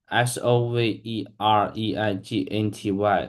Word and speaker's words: sovereignty: It's a bit tricky because the spelling looks longer than how it sounds and it means the